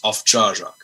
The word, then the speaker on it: Owczarek: Most people pronounce it O, O, like Hawaii 5-0. But it's Polish and it's Owczarek. Owczarek, okay.